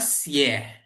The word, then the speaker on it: 写: Kalau kita bacanya 写 ya, 写 tersenyum, 写 itu artinya menulis, nada 3.